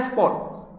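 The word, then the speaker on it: sport: दी स्पॉट उसमें एस पी ओ आर टी होता है बट बोला स्पॉट जाता है आर साइलेंट रहता है इसलिए मैंने इसको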